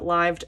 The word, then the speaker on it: LIVED: albums then we have lived and devil plus some benefit cards I always call it lived because that's what they that's how they pronounce it cuz it's supposed to be devil in Reverse um I know you